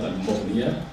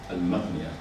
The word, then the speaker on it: al-Maghniya: by Muhammad Jawad al-Maghniya, sorry, not al-Mughniya, al-Maghniya, the correct pronunciation is al-Maghniya, who was a Lebanese scholar.